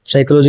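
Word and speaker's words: psychology: साइकोलॉजी अरे भाई साहब साइकोलॉजी की स्पेलिंग क्या होती है पी एस वाई इसमें पी हमारा क्या होता है साइलेंट होता है ठीक है तो पी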